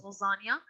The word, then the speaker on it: lasagna: Italian I'm not sure but usually the N is pronounced with a little Y in it Las okay so even though there's no why you this is how you pronounce it it's lasagna Vinnie made some lasagna